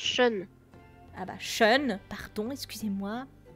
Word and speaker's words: Shun: Ça se prononce Sean.